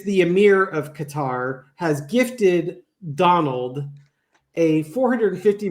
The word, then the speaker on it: Qatar: It's either Qatar or Qatar, but apparently Qatar.